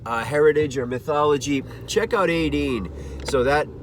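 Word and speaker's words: Étaín: a great example of a concept album 18 18 is spelled e-t-a-i-n 18 is a concept by tim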